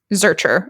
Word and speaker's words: Zuercher: is your name zurcher is that yeah pronouncing it it's like it's pronounced like z-e-r-k-e-r but it's spelled with more vowels yeah right you pronounce